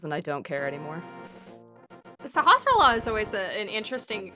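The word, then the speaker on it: Sahasrahla: Sahasrara. When I was a kid, I called him Sasarala Halalala because I was just like, that's too many S's and L's, and I don't care anymore. Sahasrara is always an interesting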